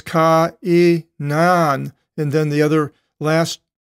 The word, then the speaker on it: Cainan: There's the double dot, diaresis, So you split the pronunciation with each letter of the vowel, the alpha and the iota. So it's ka-i-nan.